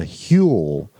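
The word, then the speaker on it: hwyl: And in the Welsh people's term, they said he caught the Hule. It's spelled H-Y-W-L-E.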